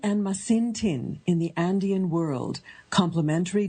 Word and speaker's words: Masintin: And the book we're going to discuss today, Hilary, you will correct me if I mispronounce it, Yanantin and Masintin in the Andean World, Complementary Dualism in Modern Peru.